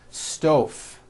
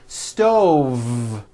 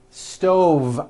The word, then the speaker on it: stove: dinner on a hot stove was that correct no I should have said stove stove I cook dinner on a hot stove with a voiced V next word 5345 correct